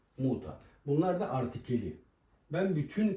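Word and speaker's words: Mutter: çok önemli Hari birimi kelimenin sonunda e ve r ile bitiyorsa a gibi okunur örnek olarak mesela de Fata baba demek de Fata ya daa anne yazalım Muta anne yani kelimenin sona e ve ile biti a gibi ö fater ya da muter şeklinde değil de Fata ve Muta Bunlar da artikeli ben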